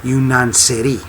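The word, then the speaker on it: yeniçeri: series is a Turkish word and it's uh pronounced as yaneri yunan CI means yunan for Greek and CI for Soldier so janies or yanari uh is a Greek Soldier now over the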